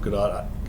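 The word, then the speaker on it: Gadot: I know people love GDOT is it g or G I can never say it right I think I've seen enough interviews with her that when I hear her say her own name it's GDOT GDOT okay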